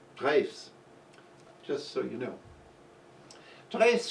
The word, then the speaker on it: Drews: Now, although it's spelled D-R-E-W-S, it's not pronounced Drews, it's pronounced Dres, just so you know.